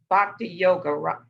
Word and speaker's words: Bhakti Yoga: I think, let me ask you, if we are practicing Bhakti Yoga, am I pronouncing it right?